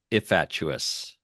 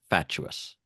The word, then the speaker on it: fatuous: So, I said ifuous instead of fatuous.